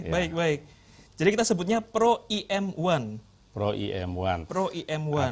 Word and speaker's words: Pro EM1: Atau disesuaikan dengan lidah kita, Pro M1 boleh juga, Mas Oki. Ya, karena masyarakat bahasa Indonesia ini memang lebih gampang mana yang lebih enak diucapkan, Pro M1.